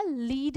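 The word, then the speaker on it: lead: Answer अभी हमने बताया लीड या लेड। अब यहाँ पर इसका प्रोनाउंसिएशन चेंज हो जाएगा, लेड हो जाएगा।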